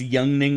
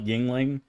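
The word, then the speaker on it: Yuengling: Pronounced yanging, not yingling.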